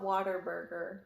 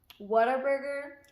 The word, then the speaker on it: Whataburger: mean what a burger it's not water burger okay what a burger well you can pronounce